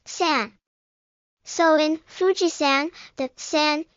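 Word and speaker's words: 山: Take the character mountain. It's onyomi is san.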